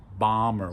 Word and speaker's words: bomber: Or the airplane that drops the bombs is a bomber. We don't say bomber, okay? Bomber. So in those cases where we have an M and then a B at the end, we don't pronounce the B.